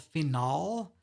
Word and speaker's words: phenol: Be aware there's another functional group called phenol, PHENOL. That's phenol. That's a very different molecule than phenyl. So just be aware of that. Just if you're going to say phenyl, make sure you don't pronounce it phenol. Or if you're going to say phenol, make sure you don't pronounce it phenyl.